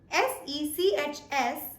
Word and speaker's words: sechs: So 6 in German is pronounced as sechs. Sechs. Even though the spelling says S-E-C-H-S, we pronounce it as z with sechs.